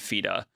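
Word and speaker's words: FIDE: rated, US and and FIDA. Feday. Um, I say it that way because it's a French organization. Was it French? Yeah. Most most Americans say it fed, but it's really Fida.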